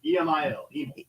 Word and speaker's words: Emil: How you pronounce his first name? Emil? Huh? What do you say? E-M-I-L. Emil. Okay, I want to make sure I say it right.